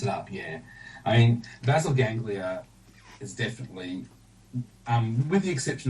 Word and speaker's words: Basal Ganglia: Now, then comes your new book, Basal Ganglia. Did I pronounce that right? Yeah, I say basal ganglia. But, you know, I think Basil would fit the American pronunciation very well.